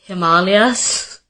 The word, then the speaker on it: Himalayas: who's being corrected like ashwagandha and Himalayas it's Himalayas and it's ashwagandha I feel like every time